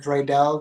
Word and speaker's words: Draydel: name is but everybody calls me dreel uh drel but I pronounce it Dre Dell but Dre old Dre